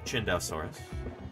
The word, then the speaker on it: Chindesaurus: I could talk about chindesaurus real quick first of all that's how you say it chindesaurus or close to that anyway um I'll show you what